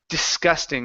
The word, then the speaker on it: disgusting: here for you is disgusting instead of disgusting it's dis okay first uh first s is an unvoiced S sound dis disgusting disgusting